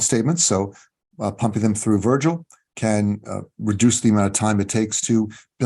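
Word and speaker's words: Vrgl: just four letters vrg L but spelled but pronounced Virgil they do a cool thing they do state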